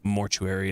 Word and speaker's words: mortuary: Mortuary is a 3-syllable word. Oh, mortuary. Well, I mean, yeah. Mortuary. It's 4 for me.